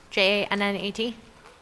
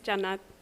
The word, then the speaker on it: Jannat: Janat, J-A-N-N-A-T. Did I pronounce it correctly? It's Jannat.